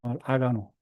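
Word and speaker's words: 上野: 이게 그 아가노라고 읽어 일본말 아가노 이게 우에노하고도 우에노라고도 읽어요. 독쿄에 가면 우에노 공원이 있는데 우노라고 여기서는 아가노라고 읽습니다.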